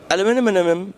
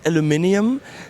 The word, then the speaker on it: aluminium: If we say it aluminium, then the Americans will say, it's aluminum. And if we say aluminum, then the Brits will say, but it's aluminium.